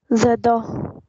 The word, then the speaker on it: je dors: Okay, and while it is conjugated, this S should be silent, this S, this T, and these things will be silent. Okay, but this DOR thing will be pronounced, and this R will be slightly pronounced like H.